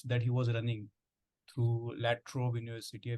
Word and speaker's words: La Trobe: he was running through La Trobe University. Forgive my pronunciation. No, that was right. It was called La Trobe.